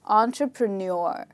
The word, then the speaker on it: entrepreneur: Okay, so in this word, again, we have four syllables and not five. And in this word, the stressed syllable is the last part of the word, okay? The final part. It's just repeat these parts after me. An, tra, pra, neur. So the stress is on the last part. Let's do it again. An, tra, pra, neur. So it's entrepreneur.